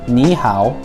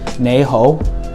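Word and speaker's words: 你好: Mandarin and Cantonese so in Mandarin hello is Niihau but in Cantonese even though the words are the same you pronounce it nee ho so as you can see the tones are very different but if you show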